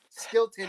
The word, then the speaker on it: Stilton: Stilton, is that... it rhymes with Hilton.